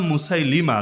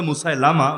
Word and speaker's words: মুসাইলিমা: একজনের নাম মুসাইলিমা লোকে বলে মুসাইলামা ভুল উচ্চারণ মুসাইলিমা মুসাইলিমা আর আরেকজন হল আসওয়াদ